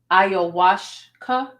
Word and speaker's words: ayahuasca: They said it's pronounced ayahuasca.